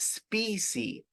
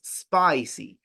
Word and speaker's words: spicy: This word is pronounced spicy. It's not species, it's spicy. So it's a different sound.